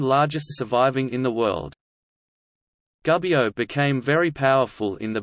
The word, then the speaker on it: Gubbio: Gubbio, Italian pronunciation, Gubbio, is a town and comune in the far northeastern part of the Italian province of Perugia, Umbria.